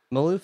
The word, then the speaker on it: Malouf: David Malouf.